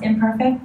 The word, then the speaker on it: Imperfect: So I called it, it's spelled imperfect, but I call it I'm Perfect.